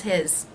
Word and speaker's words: his: And here, how will I pronounce his? I will drop that H.